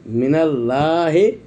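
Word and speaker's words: مِنَ اللهِ: খাড়া যাবার লা হাজেরি, মিনাল লাহে, এটা হলো বানানের ক্ষেত্রে, কিন্তু উচ্চারণের ক্ষেত্রে আমরা বলতে হবে মিনাল্লাহি, কারণ আল্লাহ লাফজে জালাল,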